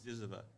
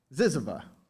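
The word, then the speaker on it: ZYZZYVA: Recent work you can also find his work at this journal, the literary journal, it's hard to pronounce this, Ziziva. Ziziva.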